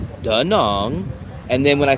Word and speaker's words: Da Nang: I said, how do you say Danong? And they said, Danong.